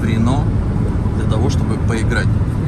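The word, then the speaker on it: Reno: Пишется R-E-N-O, Рено.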